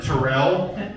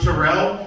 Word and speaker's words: Terrell: My name is Terrell, by the way. I want to go ahead and just make sure everyone knows about that. My name is Terrell.